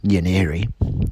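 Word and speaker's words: Nwaneri: Foster an attacking midfielder whose surname is pronounced yaniri now Erie was 15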